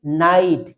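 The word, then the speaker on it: night: है तो वह मोस्टली जी एच पूरा ही साइलेंट रहता है। ठीक है? जैसे एन आई जी एस टी नाइट। इसको क्या रीड करेंगे हम? नाइट। यहां पूरा ही जी एच जो है एकदम साइलेंट है।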